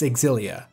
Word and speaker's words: Xillia: I mean it was also referred to as Xillia in a ton of pre-release coverage but that should be pretty definitive it's Xillia now on to a more broad look at pronunciation rubbish and I say rubbish because I